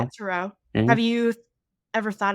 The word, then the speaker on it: Turo: Turo.